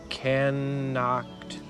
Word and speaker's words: knocked: He knocked. The K is silent.